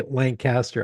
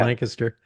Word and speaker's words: Lancaster: I can't say Lancaster. I have to say Lancaster.